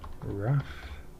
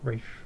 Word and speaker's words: Raf: Not Rafe, Raf.